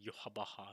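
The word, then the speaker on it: Yhwach: In Japanese, they pronounce his name Yuhabaha in the anime.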